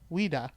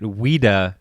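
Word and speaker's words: Ouida: Maria Louise Ram but her pen name was weda O UI d a and if you look at weda quickly it looks like Ouiji or Ouija Ouija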